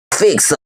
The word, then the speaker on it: Géofixio: Ça se prononce Géofixio, mon ami.